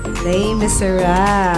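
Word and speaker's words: Les Misérables: Les Miserables. Ah, ganun pala yung pagbigkas, no?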